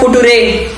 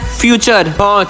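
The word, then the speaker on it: future: ये तो है फुट रे। चुप करो पागल किशन। इस वर्ड का सही प्रोनाउंसिएशन है फ्यूचर।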